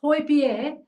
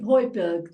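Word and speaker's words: Højbjerg: you know because he's his name is actually pronounced Hoy Bier right but everybody calls him boyberg don't they because yeah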